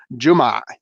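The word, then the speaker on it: جمعة: For anybody who doesn't know, Juma, the proper pronunciation, but Juma means Friday in Arabic, and it very specifically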